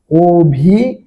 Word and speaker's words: অভিযান: শব্দের উচ্চারণটা কি হবে অভিযান শব্দের উচ্চারণ হচ্ছে কি অভিজান অভিযান এই অন্তস্থীয় জ